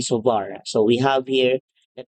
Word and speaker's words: Savart: and sovar so remember This is not biot and savart this is law of bo and sovar so we have here